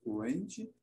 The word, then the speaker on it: cringe: Ela pode ser utilizada tanto na sua forma estrangeira, como o inglês, cringe, ou também é utilizada na sua forma aportuguesada, sofrendo aí um processo de adaptação de pronúncia, um processo de adaptação fonética.